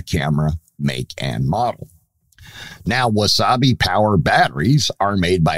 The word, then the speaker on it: Wasabi: Now, the first of these is a company called Wasabi Power. And yes, their name sounds and is spelled just like the hot Japanese condiment that you can use on your sushi that is green in color.